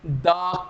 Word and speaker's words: the: सही बोला आपने, द कैट। वही मैं अगर बात कर रहा हूं OX की, जिसकी प्रोनाउंसिएशन ऑक्स होती है, उसके पीछे जो THE लगी है इसकी प्रोनाउंसिएशन हम लोग दी कहते हैं।